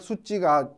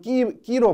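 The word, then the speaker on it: Suu Kyi: 근데 아웅산 수찌의 마지막 수찌가 KYI로 끝나거든요. 그래서 이거를 미얀마어를 모르게 되면 끼로 발음할 수가 있겠죠. KYI니까 끼 이렇게 발음할 수가 있습니다. 그렇지가 않고 쌍지읒으로 발음이 됩니다.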